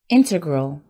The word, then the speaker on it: integral: a group number two integral the word stress is on the first syllable this word means necessary